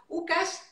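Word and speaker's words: Łukasz: una partecita así dice buscar porque así se pronuncia lucas el polaco lukasz bats en ron su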